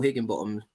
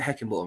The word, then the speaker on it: Heckingbottom: Paul Higginbottom or Heckingbottom. What is it? Heckingbottom, right? How do you ever say his name's in charge there?